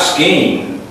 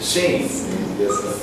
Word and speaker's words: scene: It's not scheme, it's scene. Some of the letters in this case, this particular C is kind of not there.